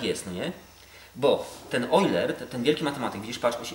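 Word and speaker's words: Euler: no nie bo ten oiler ten wielki matematyk widz patr czyta się oer pisze eer ten oer on odkrył że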